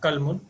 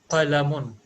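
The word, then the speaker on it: قَلَمٌ: haza, not kalmun, it is qalamun. On lam, قلم. yes, on lam there is a fatha, means there is a sound.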